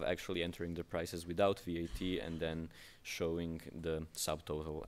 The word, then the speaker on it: VAT: you will see that if you pronounce it as one word it sounds like what because that's usually what your reaction is when you start exploring vat it's usually pretty hard